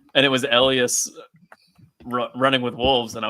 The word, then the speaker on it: Elyas: pronunciation. I've Yes, always Tara. said Elias, like Yes. Elyas, but the diphthong Elias now makes me want us to do like a weird Not Elias.